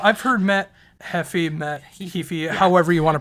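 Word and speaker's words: Heafy: this one this single in particular has Matt Hefe on it am I saying that right yeah well I've heard Matt Hefe met he he however you want to pronounce it however but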